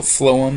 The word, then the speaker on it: phloem: phloem that's not yeah the pH as you know makes an F sound so phloem is how you say that and it transports solutions